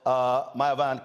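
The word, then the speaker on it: Myavana: Joining us right now is the co-founder and CEO of Mayavana, Candace Mitchell-Harris. First of all, am I pronouncing it correct?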